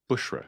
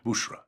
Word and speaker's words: Bushra: name is is pronounced Bushra Bushra right and if some people mispronounce that and put a d in there instead of a b it can be a